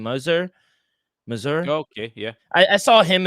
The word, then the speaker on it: Mazur: How do you pronounce his name? Mazur.